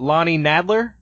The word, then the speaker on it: Lonnie Nadler: names right so la is it Lani Nadler that's right and Zac Thompson I